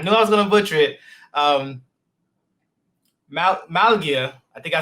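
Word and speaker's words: Málaga: Malaga, I think I said it wrong. Located in Malaga, Spain. Ladies and gentlemen, Mike Graham. Hey, great to be here, Lamar. Yeah, you got it. Malaga, Spain.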